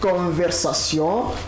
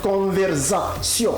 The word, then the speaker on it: conversation: Donc ne dit pas par exemple conversation, ce n'est pas Z, c'est plutôt ça.